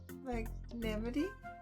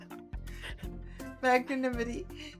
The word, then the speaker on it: magnanimity: really big word wait how do you say mag nity did I get it magnanimity magn magnanimity magn Magnum Magnum magn magn magn magn magn magnanimity magnanimity at the end you got it now I'm